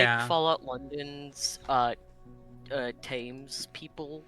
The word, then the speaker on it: Thames: How do you pronounce it? Thames. Calling it. Thames.